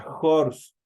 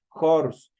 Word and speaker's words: horse: pero si en cambio la H es Sonora eso qui decir la H se transforma en una J el momento de pronunciar si se debe utilizar el artículo a por ejemplo a jors si nosotros vemos Esta H se transforma en una J horse entonces ahí se utilizamos